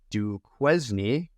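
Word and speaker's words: Duquesne: were the bid Steelers do qune um which I'm being told is actually pronounced Kane I guess it's French uh University of Alabama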